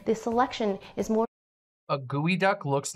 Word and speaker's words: geoduck: okay here we go geoduck but it's pronounced gooey duck it's actually comes from a Nisqually word which were this creature